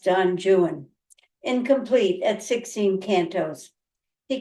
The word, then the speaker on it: Don Juan: himself sexually and otherwise his comic Masterpiece is Don jwan uh it looks like Don Juan but he always insisted it' be angelized and pronounced Don jwan incomplete at 16 kantos he continued a lifelong